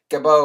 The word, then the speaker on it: Gadot: Gal Gadot, or I always say Gabots because it's got a T on there, but I know that's not the proper pronunciation.